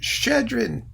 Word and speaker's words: Shchedrin: correctly more or less there is in Russian a letter which is a double SH shoe sheesh and so that's how you pronounce it shchedrin I love it I